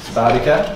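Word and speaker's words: SPARTECA: regional agreements like Spartica, is that how you pronounce it? Spartica.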